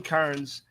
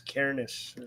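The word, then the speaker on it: Cairnes: with the devil Mindy directed by Colin Colin Kars uh I'm probably brother my problem Cameron Kars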